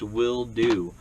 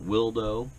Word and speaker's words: Wildo: willo Campa box now it is pronounced will do I actually got a hold of this company and asked them because um I was calling it wo and wild o and all this different